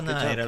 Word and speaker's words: Nira: Oddio, si pronuncia Naira, l'ho sempre pronunciato Nira, scusatemi, All mi sono right, here's nazzato.